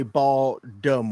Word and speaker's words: Baltimore: are from the area you don't pronounce the T in Baltimore you say ball dumb or I I realize